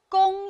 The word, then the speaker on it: 供: 侍，供、供应的供，供是后鼻音，韵母是后鼻韵母 ong。